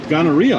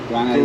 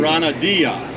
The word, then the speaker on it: granadilla: Granadilla. Gonorrhea. I've never heard of these. Granadilla. Gana- Granadilla. Not gonorrhea. Granadilla. Granadilla. I mispronounced that word, Italia?